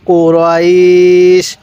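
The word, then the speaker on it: قريش: টান দিবেন লি লাফি কুরাইশ অনেকেই আমরা এই কফটাকে কাফ উচ্চারণ করি তাহলে আমরা এটাকে কফ উচ্চারণ করব কিভাবে পড়বো লিলাফি কুরাইশ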